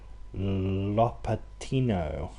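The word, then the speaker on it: Lopatino: so this is that one which is actually pronounced la patty no I am in LA Pitino so this should be it so I've just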